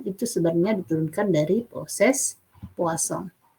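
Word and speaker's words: Poisson: sebenarnya diturunkan dari proses puasa dibacanya bukan Poison ya ini dari bahasa Perancis perhatikan sifat-sifat dari proses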